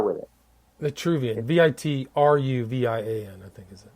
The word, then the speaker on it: Vitruvian: And they go Vitruvian is spelled it's Vitruvian, right? Vitruvian? No, Vitruvian is like Vitruvi, kind of like virtue. Yeah, virtue. Let me look it up because in English it doesn't carry the R with it. Vitruvian, Vitruvian, I think is it?